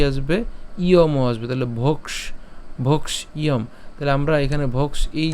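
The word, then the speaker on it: ভৈক্ষ্যম: মূর্ধন্যস সাথে কি আসবে ইয়ম আসবে তাহলে ভক্ষ ভক্ষয়ম তাহলে আমরা এখানে ভোক্স এই জায়গাটাকে পুরোটাকে একসাথে আমরা খিয় পর্যন্ত উচ্চারণ করে ফেলতে পারি অর্থাৎ না ভেঙে সরাসরি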